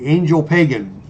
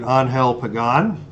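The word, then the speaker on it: Ángel Pagán: all of baseball history, Angel Pagan, is the batter. He pronounces it Angel Pagan, but Angel Pagan is my preferred pronunciation.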